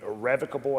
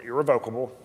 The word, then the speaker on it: irrevocable: That's an irrevocable assignment, or irrevocable, again, depending on who's pronouncing it, meaning the policy is protected.